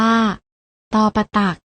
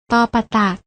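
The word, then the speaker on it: ฏ ปฏัก: มา ได้ แก่ อะไร พยัญชนะ ทั้ง 2 ตัว นี้ อ่าน ออก เสียง ตอ เหมือน กัน พยัญชนะ ตัว แรก อ่าน ออก เสียง ว่า ตอปะตัก และ พยัญชนะ ตัว ที่ 2 อ่าน ออก เสียง ว่า ต เต่า ค่ะ ลอง อ่าน ออก เสียง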